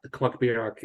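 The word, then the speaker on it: Clach Biorach: And Devin Ross, has any idea how to pronounce Clachbierach? Actually, you're spot on. Clachbierach is kind of the pronunciation I keep hearing from people who are kind of much better at this than I.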